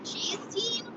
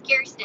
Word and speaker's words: Kirsten: which is so silly someone on top the other day thought my name was pronounced cheese team so we keep making fun of that too because that is a very bizarre pronunciation my name is kirsten and it smelled pretty similar to how you think it's about or pronounced kirsten i yeah definitely doesn't